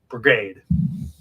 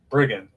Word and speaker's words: brigand: Whoever defrauds father or mother and says, "It is no sin," is a partner to a brigade. I feel like I said it wrong. Brigand. Okay, brigand.